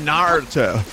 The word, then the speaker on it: Naruto: I've heard people say Naruto it's both it's the latter it's Naruto okay so you gotta say it like you're from California okay Pasadena it doesn't